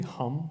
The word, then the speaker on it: Hmm: Uh there's a query hum that we sort of saw some interesting issues with uh which is which is spelled hmm.